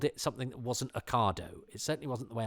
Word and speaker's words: Ocado: A coda is how my other half pronounced Ocado until we got together.